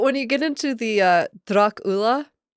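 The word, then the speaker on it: droch fhola: But when you get into the Drach Ula, the second word Ula starts with an FH. Why? Why? FH is always silent in Irish. Oh, that's horribly confusing. It's not Drach Fula.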